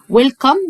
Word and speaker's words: welcome: ويلكم والإي في الآخر ما بننطقهاش. welcome يعني مرحبا to إلى أو في my school.